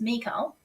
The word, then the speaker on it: Michal: m-i-c-h-a-l and I look that up and it's pronounced Miko and we're going to be talking about her